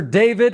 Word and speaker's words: D4VD: Singer and producer David, and it's spelled D4VD.